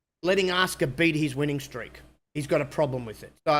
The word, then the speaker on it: Asuka: Her name is not Asuka, it's Asuka, right?